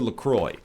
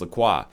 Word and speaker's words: LaCroix: Whole Foods and you got two choices for Lacroix and it is pronounced Lacroix much to my chagrin even though I think it should be pronounced Lacroix do you take lemon you take lime and